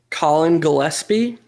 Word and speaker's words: Colin Gillespie: Colin Gillespie.